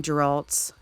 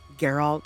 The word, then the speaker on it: Geralt: I keep wanting to say Geralt because the whole time I was reading the books, or almost the whole time I was reading the books, I was pronouncing it as Geralt in my head. For some reason, I just didn't figure it was Geralt, so trying to get into the habit of saying the G instead of J is hard for me to remember.